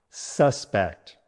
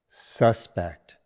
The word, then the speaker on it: suspect: Stress on the second syllable.